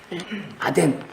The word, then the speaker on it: 아덴: 그 아테네를 중국 사람들 발음 그리고 또 한국 사람들 한자 발음 옮겨서 아덴이라고 성경은 기록했습니다.